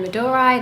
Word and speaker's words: Madurai: good if you are in Madurai and Medora that's how you say it then you have to